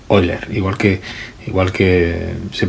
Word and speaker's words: Euler: era alemán pero que en alemán no se pronuncia euler sino que se pronuncia hoy leer igual que igual que